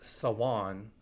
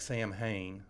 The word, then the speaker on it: Samhain: a Celtic holiday yeah uh Salon which it looks like Sam Hayne I don't know why I'm not Irish I'll ask Eric crimmins about that but it's it's spelled Samhain but it looks I